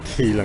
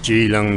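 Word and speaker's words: Keelung: Maybe she I told her I was going to Oh, it's not Keong, it's pronounced Gilong. The K becomes a G.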